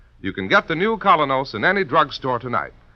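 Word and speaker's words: Kolynos: is start cleaning your teeth with the new colonos a high polishing toothpaste its action is like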